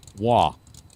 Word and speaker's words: Roy: And apparently if you're Canadian, that would be pronounced Wah. Like Patrick Wah.